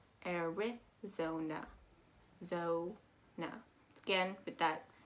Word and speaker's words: Arizona: issue with that eye i hear a lot of people say are we zona um but you're gonna calm down that eye you're going to go eric zona arizona so now again with